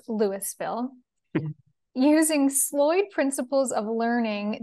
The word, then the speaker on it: Louisville: experience in Lewisville Colorado spelled like Louisville but it's Lewisville using sloyd principles of